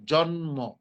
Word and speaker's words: জন্ম: এখানে ম ছিল। ম ছিল কিন্তু ম এর কারণে ম এর দ্বিত উচ্চারণ হলো না। কি হলো? ম স্বাভাবিকভাবে উচ্চারিত হলো। জন্ম।